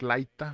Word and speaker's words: Laita: de yorogan con Mark laira se llama omark laita se escribe laita y este este podcast me interesó